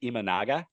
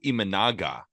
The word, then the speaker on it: Imanaga: how do you say his last name Shoto imanaga Shoto imanaga in 2023 in the mpb went s and